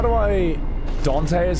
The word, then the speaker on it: Dante: So, how do I Dante is how you say his name.